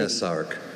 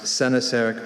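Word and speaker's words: coenosarc: Sinasarc. Sinasarc, can I please have what information? A Sinasarc, also pronounced Senasarc or Sinosarc, is a noun.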